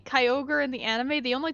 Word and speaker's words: Kyogre: how much no no no no they say kyogre in the anime the only time it's pronounced kyogri is in the hoenn pokemon wrap oh really